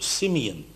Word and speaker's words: Simeon: When he was born, he was called Simeon. And that's the Hebrew pronunciation.